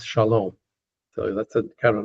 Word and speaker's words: shalom: Word most of you know again accented on the last syllable. It's not shalom. It's shalom. unless it's in poetry or a song.